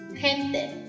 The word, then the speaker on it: gente: 的 H 音那样，例如 gente、 jengibre、 geografía、咁大家可以再睇一睇呢個例子 gigante。